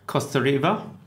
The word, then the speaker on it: Kostareva: We have Kostareva. Did I pronounce it right?